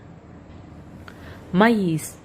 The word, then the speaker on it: maïs: The vowel over which it is placed should be pronounced separately from the one before it. Examples: Noël, maïs.